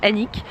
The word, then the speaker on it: Alnwick: du coup j'ai prononcé ça Alnwick tout à l'heure, apparemment ça se dit juste Annick. Mais il y a un L et un N et un W.